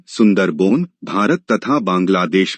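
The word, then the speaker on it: সুন্দরবন: उत्तर सुंदरवन का डेल्टा सुंदरवन बांग्ला उच्चारण सुंदरबन भारत तथा बांग्लादेश में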